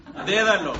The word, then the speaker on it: dédalo: Dédalo con acento en la e.